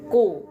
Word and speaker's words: gu: Semoga Kak Putri masih ada untuk menyimak ya bagaimana Lause membaca pinyin gu ini ku ya bukan Q. bukan lagi ya, bukan gu juga bacanya, tapi ku kau ya.